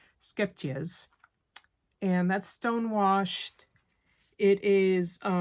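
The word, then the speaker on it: Scheepjes: And the yarn I'm using is Shepjes Stonewashed. I'm sure I kind of butchered that name. A lot of people struggle with, it might be Skepjes. Yeah, I think the H is silent, so it's Skepjes.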